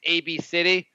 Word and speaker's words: ABCDE: The name of the kid is ABCDE, or pronounced Absidy. Oh, is that how? I thought it was AB City. Oh, it is AB City, but I assumed, I'm looking at that, I assumed that meant Absidy.